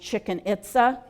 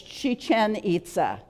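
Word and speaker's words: Chichén Itzá: this next one looks like it should be pronounced chicken ITA but it's not it's Chichen ITA in Mexico a historic Mayan city again built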